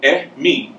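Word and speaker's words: emi: In Yoruba, E's are pronounced like E, like you would say for egg. It's E. Okay. And I's are pronounced like E, like in eat. All right. So, E-mi is spelled E-M-I, E-mi.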